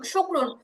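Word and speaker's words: شكر: এমনিইভাবে এমনিইভাবে ধরেন এই যে তিন কাফ পেশ শুক্র দুই পেশুন শুকরুন ওয়াকফ করলে রটা সাকিন হয়ে যাবে উচ্চারণ হবে শুক্র কি হবে শুক্র তারপরে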